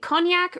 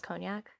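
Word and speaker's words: Conecuh: is an alcoholic beverage the cognac ridge alabama fine whiskey that's how you pronounce cognac yes wow i was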